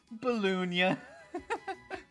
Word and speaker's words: Balloonia: Balloonia. It rhymes with petunia.